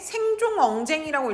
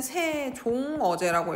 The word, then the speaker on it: 세종어제: 그래서 이거 읽을 때 생종엉쟁이라고 읽으면 안 돼요. 읽을 때는 세종어제라고 읽습니다. 받침에 뭐만 읽는다?